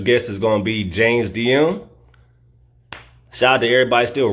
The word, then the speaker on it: James Diem: in the building we got our special guest James DM in the building am I pronouncing that right yeah okay okay dope well